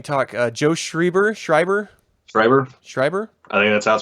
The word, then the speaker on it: Schreiber: mean can we talk Joe Schreiber Schreiber briber Schreiber that's pronounced Joe Schreiber wrote this back in 2009